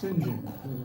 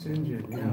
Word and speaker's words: St John: now for instance um St John is pronounced Singin um singen that's your star BAS